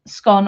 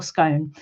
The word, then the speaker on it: scone: how I pronounce um scone or scone. It genuinely depends on who I am around. Scone I believe is a northern uh northern and Scottish thing. Scone is a southern thing.